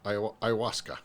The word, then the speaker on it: ayahuasca: Ayahuasca. Ayahuasca. Yeah. Ayahuasca. Doesn't look like ayahuasca, but I think that's how they say it.